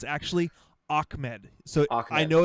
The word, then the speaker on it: Ahmed: washington husky fan i actually know it's actually ahmed so i know it's i know it's a-h-m-e-m-e-d it's pronounced ahmed so thank you thank you for fixing on